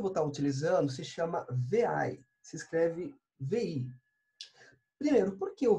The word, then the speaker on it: vi: editor que eu vou estar utilizando se chama ver ai se escreve lembro porque eu ver aí o ver